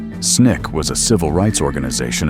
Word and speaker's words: SNCC: SNCC pronounced SNIK was a civil rights organization of young activists, mostly college students, who came to Mississippi to register black voters.